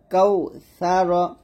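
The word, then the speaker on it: كوثر: রটা মোটা করতে হবে।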